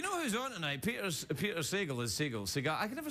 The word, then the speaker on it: Sagal: Peter Sagal is Sagal.